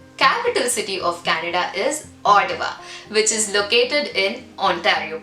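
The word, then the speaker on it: Ottawa: understanding i think it's odawa they like to call it with a d sound so yeah the capital city of canada is odawa which is located in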